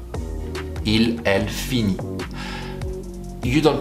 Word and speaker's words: finit: Il, elle finit. Il, elle finit. You don't pronounce the S at the end, as you have noticed, and the T, it's also silent, so it's basically sounding exactly the same way.